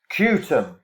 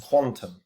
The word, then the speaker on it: QTUM: kutum pronounced quantum um is what we're